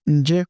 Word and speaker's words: nje: In B form, we normally pronounce this nje, we do quig.